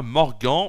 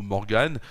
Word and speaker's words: Morgan: la sainte péagie et la saint Morgan ou Morgane c'est comme vous le souhaitez puisque ça s'écrit m o r g A n le soleil se lèvera